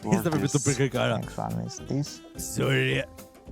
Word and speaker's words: Birkirkara: Birkirkara. Birkirkara. Birkirkara. Solid pronunciation.